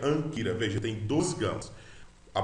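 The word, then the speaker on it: ἄγκυρα: Anquira se pronuncia anquira, veja, tem dois gamas.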